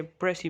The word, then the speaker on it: précis: इसे प्रेसी प्रोनाउंस करते हैं, अक्सर लोग इसे गलत प्रोनाउंस करते हैं।